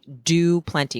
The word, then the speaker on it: Du Plenty: And the DuPlenty was his own addition, simply meaning do plenty, because it's spelled DU space PLENTY. But he meant like DOPLENTY, like I do plenty.